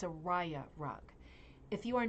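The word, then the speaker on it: rya: It's a raya rug. If you are not familiar with raya rugs, we are about to hit raya rugs hard. Raya is spelled R-Y-A.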